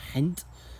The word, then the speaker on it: Ghent: this in Belgium in Ghent or how the locals pronounce it hint and it's a storming